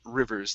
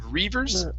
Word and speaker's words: rivers: for you is the short eye on Rivers instead of reavers rivers it's always a problem when